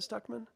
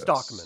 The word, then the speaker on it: Stockman: is in here somewhere is it stuckman yes Stockman Stockman yeah Stockman mispronounced so you know I